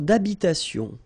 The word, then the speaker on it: d'habitation: Une tour d'habitation. Remember, H doesn't exist in French, well, in most of the cases. So it does mean that you don't pronounce it.